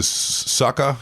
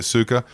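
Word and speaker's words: Sukkar: offs who is next in the wings there Sucka is that how you say it yeah Michael Su yeah yeah Suka he would be a rising kind of talent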